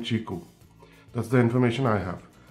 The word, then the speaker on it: Qiku: So, Qiku, it's pronounced Qiku.